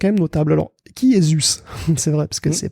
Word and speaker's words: Zuse: Pas Suze, Zuse. Ce qui est dur à prononcer d'ailleurs quand on est habitué à parler de la Suze.